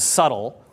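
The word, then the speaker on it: Svbtle: Hacker News for this blogging platform called subtle which is spelled sv b tle because they're super hip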